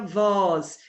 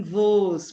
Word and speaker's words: vos: Lembrando que pronome oblíquo não se pronuncia nós, e sim nos, não tem um acento agudo. Não se pronuncia vós, e sim vos, porque também não tem um acento agudo.